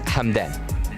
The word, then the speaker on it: Hamdan: So the number 7 is an H. So his name is Hamdan, or like Hamdan. And yeah, there's a lot of things happening in the keyboard for us. But yeah, you can pronounce his name as Hamdan.